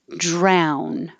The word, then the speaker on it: drown: Drown. This is ow again, so you have to open ow.